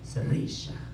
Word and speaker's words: Sirish: I was like, Sarisha.